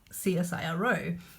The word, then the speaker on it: CSIRO: but I pronounce this csiro and when I pronounce it that way it's an initialism because that's si si